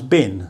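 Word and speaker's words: บิล: And this letter becomes an M, so bill becomes bin.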